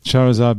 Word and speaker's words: Charizard: Just as an approximate thing, what would a 1 Charizard, is that how you say it? Yeah. Charizard be worth?